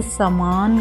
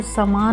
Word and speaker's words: सामान: उसी तरह से होगा ऐसे ही अपने समान का ध्यान रखो यहां पर समान नहीं आएगा सा मान का ध्यान रखें तो दीर्घ आएगा सामान ना कि समान यह जो